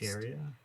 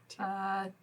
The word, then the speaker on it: Thyatra: Her name is pronounced Tyria? Thyatra.